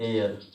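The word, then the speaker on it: heir: लेकिन वहीं कुछ हमारे पास एक और वर्ड मैं आपको बता देता हूँ, एयर, एयर शब्द है, इसको H साइलेंट रहेगा, शुरुआत किससे होती है, तब कौन सा इसके साथ आर्टिकल लगेगा, आयन लगेगा।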